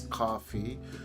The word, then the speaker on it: Ko-fi: I believe it's Coffee because it's KO-FI.